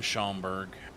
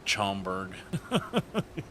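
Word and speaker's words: Schaumburg: One month and we'll be chilling out in Shamberg. I think Simstar was calling it Chamomberg. I did want to correct them. He was pronouncing it wrong.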